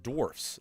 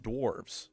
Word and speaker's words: dwarfs: First is that it's pronounced dwarfs, not dwarves.